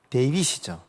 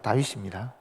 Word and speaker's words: 다윗: 여러분 다윗이 영어로는 무슨 뭐예요? 데이빗이죠. 근데 히브리 말로는 다윗입니다. 다윗.